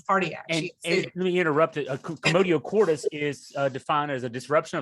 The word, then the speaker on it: Commotio cordis: Is it Commotio cordis? That's correct.